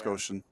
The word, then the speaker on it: Goshen: sure we knew how to pronounce Goshen because I was going to say gosh and I was even going